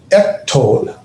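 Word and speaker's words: אֶקְטֹל: And so we have, remember, the aleph is silent. And so this is ektol.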